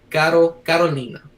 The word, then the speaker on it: Carolina: it, in the like how you would in Portuguese, which is something closer. I'm gonna mess this up. What was it? Carolina. But the way I pronounce it is I because Portuguese is a lot more nasally.